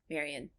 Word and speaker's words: Marion: much to me but yeah let's go with Marion yeah I I like to I don't know